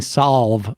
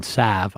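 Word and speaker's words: salve: In addition to me mispronouncing Solve, apparently, there's no L in Sav.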